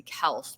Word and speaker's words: Kelce: And so now I feel like I'm pronouncing it right when I say Kelse, but I hate him, so I want to pronounce it wrong.